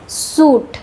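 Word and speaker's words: suit: बिनेस बिनेस में भी आई साइलेंट होता है। सूट सूट में आई साइलेंट होता है।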